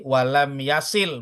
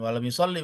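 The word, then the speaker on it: يصل: Wa in kana qad hawa lirruku'i walam yasil, bukan walam yusolli bacanya.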